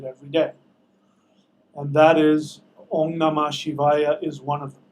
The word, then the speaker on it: Om Namah Shivaya: It's not Om Namah Shivaya. I don't know if the spell check changed it for you. It's Om Namah. The H is silent. Shivaya. It's actually not silent, but you might as well not pronounce it.